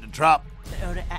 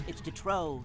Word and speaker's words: Detrop: What is it, Detrop? Actually, it's Detrow, sir. The P is silent.